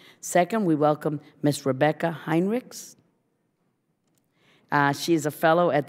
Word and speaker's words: Heinrichs: Do we pronounce the S in the last name, yes, Heinrichs?